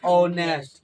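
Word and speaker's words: honest: है वो देखना है तो शुरुआत लिखा हुआ है एच इसका कोई मतलब नहीं है य क क्या रहा है उच्चारण क्या निकल रहा है उच्चारण प ध्यान देना है ये 11 में से कोई अक्षर का उच्चारण आया अ कनमन के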